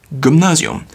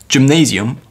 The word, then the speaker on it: Gymnasium: And then we have Gymnasium, which is pronounced differently, but it is the same word that is also used for gyms, actually, in English. So it's Gymnasium or Gymnasium.